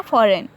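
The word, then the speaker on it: foreign: Example देखें, एन से पहले यहाँ पे क्या, फॉरेन, एन से पहले जी आया हुआ है तो जी है साइलेंट, जी की आवाज़ नहीं आनी है, फ़ौरन पढ़ जाएगा।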